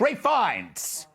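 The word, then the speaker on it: Ralph Fiennes: pronounce this dude's names Ralph finds Ray fines Ray fines who I'm told was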